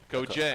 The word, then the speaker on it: Okojie: Okojie. I know it looks a little different, but it's just Okojie.